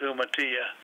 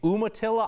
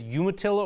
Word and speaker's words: Umatilla: there were many rocks I bet spanish-speaking people would pronounce it no Mattia all right that is one that I have mangled over the years you heard dr. Tom Noel say say Umatilla I know I've said you Atilla over the years and obviously he points out that other people linguistically correct would say you Mattia huh that's interesting another